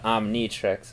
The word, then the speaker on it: Omnitrix: So, brief look at the Omnitrix there, the Omnitrix, as he said. Okay, she pronounced it right.